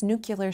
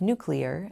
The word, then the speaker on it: nuclear: My silly sentence included 3 questionable pronunciations: mischievous instead of mischievous, nuclear instead of nuclear, and library for library, all of which are in our dictionaries.